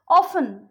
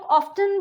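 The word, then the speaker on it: often: ऑफन, उसको कई लोग ऑफ्टन भी बोलते हैं, बट वो भी करेक्ट है, बट इसका नॉर्मली इसका प्रोनाउंसिएशन ऑफन ही होता है.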